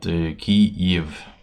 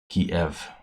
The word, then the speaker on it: Kyiv: Ukrainians call their capital Kiev with Kyiv. So that's the Y version. The Russian version is Kiev.